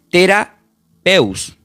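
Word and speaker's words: θεραπεύω: Y cuando dice la palabra sanando, esta palabra del griego, esta palabra sanando del griego se pronuncia como tera. Escuchen esto que muchos lo escuchamos bien nosotros también acá en los hospitales, terapeus.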